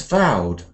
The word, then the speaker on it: vowed: Rachel a mustach 11 we say hallowed but alowed people but leopard towed but vowed so lots of words